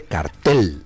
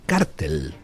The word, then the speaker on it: cártel: No se dice cartel de los soles, se dice cártel de los soles. Un cartel es una cosa así cuadrada donde uno escribe algo. Un cártel es una reunión, organización, preferiblemente de carácter criminal,